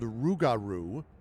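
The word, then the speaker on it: rougarou: Um, so it's kind of like kangaroo.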